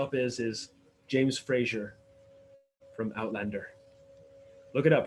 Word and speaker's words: Outlander: This is Outlander. You have to say it like that. No. You have to say it like a Highlander.